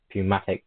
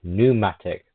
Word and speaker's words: pneumatic: had a pun pumatic gun. Pumatic. Sorry. Pneumatic. Technically the P is silent pneumatic.